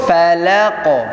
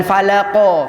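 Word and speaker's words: فلق: Qul a'udzu bi rabbil falaq. Tidak boleh falaq. Ya, banyak yang baca falaq. Falaq. Berarti di akhirnya ada hamzah yang dimatikan. Cukup falaq. Bukan falaqo, falaqo. Kita bacakan falaqo sama falaqo.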